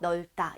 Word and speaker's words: 넓다: 그래서 리을 비읍 중에서 우리가 대표음이 리을로 나타나면서 넓다 이렇게 발음이 됩니다.